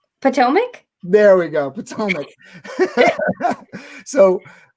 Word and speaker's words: Potomac: uh so i always i'm trying to say potomac there we go potomac so tell me about